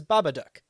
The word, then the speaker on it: Babadook: movie stems from australia the way that accent word pronounced that and the way the director has pronounced that is babadook which is to its